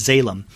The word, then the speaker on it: Zalem: And in this first volume, it is spelled Zalem. It sounds, I guess, a little like Salem, but it's Salem.